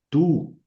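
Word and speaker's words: τοῦ: Tú, tú o u suena u tú.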